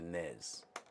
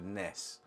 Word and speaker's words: NES: I couldn't do the NEZ has to be a NEZbased game. And those those of us that call it the NES, which is actually how it should be pronounced will be rather peeved